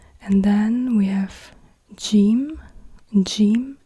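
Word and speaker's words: جيم: then we have Jim Jim is a j sound but it's it's like a g but it's not pronounced like G so as in go or GI or gift or whatsoever it's not like G but it's like J like in Jungle except if you are in Egypt as an example so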